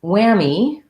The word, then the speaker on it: whammy: and then whammy um this is an example of spelling is w h but the sound is just the w sound and we have the black cat vowel and uh a me at the end just like the word